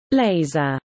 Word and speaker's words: LZR: Speedo's most controversial move came with 2008's unveiling of the LZR, pronounced laser, racer.